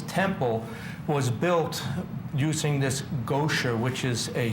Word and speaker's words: Goetia: I didn't know how to pronounce it. It's GOETIA, G-O-E-T-I-A, a Latin word.